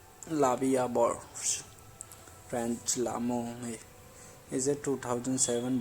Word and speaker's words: La Vie en Rose: La Vie en Rose, literally life in prank, French pronunciation La Vie en Rose, French L'amour, is a